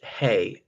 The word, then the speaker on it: Haigh: channel I'm commenting on Louise Hay me thinks that's how a surname is pronounced the labor cabinet secretary